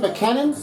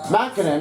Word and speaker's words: MacKinnon: other hand was is nathan mckennan mackinnon i'm so i pronounce it incorrectly yeah sorry about that